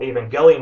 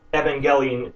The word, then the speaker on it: Evangelion: way instead of Ava the first syllable of the word is supposed to be pronounced exactly like the female name Ava how would you pronounce